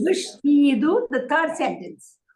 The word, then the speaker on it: vestido: One of the guidelines of pronunciation, as I will explain later, is that when an S is before a consonant, C, T, it becomes sh. Okay. The sound becomes sh.